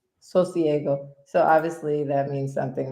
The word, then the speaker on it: Sosiego: And she's the founder of, how do you pronounce your business? Because I feel like I say it wrong every time. Sosiego. Sosiego.